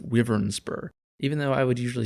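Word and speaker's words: Wyvernspur: And yes, apparently it is pronounced Wyvernsper, even though I would usually say Wyvern.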